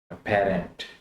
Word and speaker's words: aberrant: तो ये है अपेरेंट, अपेरेंट, अपेरेंट। आप इसको प्रोनाउंस करें ताकि आपकी प्रोनाउंसिएशन ठीक हो जाए।